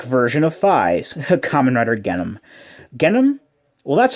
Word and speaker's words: Genm: But the way that it's spelled here in katakana makes it look like the N and the M are both meant to be pronounced.